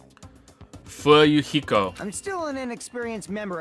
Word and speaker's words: Fuyuhiko: My first name is pronounced fu heo. Fu yuhiko.